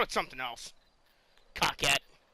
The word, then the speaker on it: Coquette: Coquette. But it's actually Coquette. I'm pretty sure.